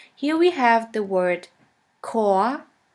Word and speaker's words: Chor: In the German language, the words which normally start with the letter C is pronounced like the letter K. Here we have the word Chor, Chor, which means choir.